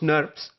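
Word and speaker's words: snRNP: ribonucleoprotein particles that are abbreviated as SN R and PS or pronounced nerves there are two types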